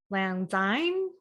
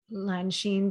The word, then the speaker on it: Lanshin: And they'd be like, Lanzine, and like I just I'm done with mispronunciation of the name. So I just made it SHIN because it was the closest that I thought an